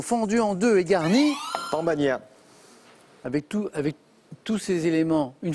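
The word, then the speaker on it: pan bagnat: Mais Jean-Paul, vous l'avez très bien prononcé, c'est le pambagna, P-A-N.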